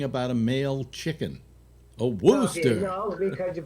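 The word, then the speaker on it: Worcester: elmer fudd talking about a male chicken a wooster because you pronounce it okay yeah yeah uh you're liking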